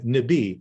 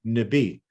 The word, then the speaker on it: Nibi: So even Nibi, a 2-syllable word like water, Nibi, we see it rise at the end.